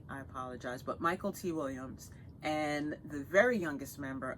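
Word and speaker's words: Michael K. Williams: Gabriel, I've pronounced this man's name wrong for years. It's Michael T. Williams. I've always said McKelty, I apologize, but Michael T. Williams.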